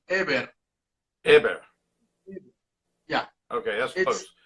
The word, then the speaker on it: Heber: And what's the actual correct pronunciation of your name? It's actually Heber.